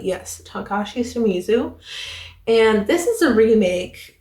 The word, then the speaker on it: Takashi Shimizu: Did I pronounce that correctly? Yes, Takashi Shimizu.